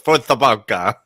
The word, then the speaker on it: Força Barça: I had to Google the pronunciation. I did not know it was Força Barça.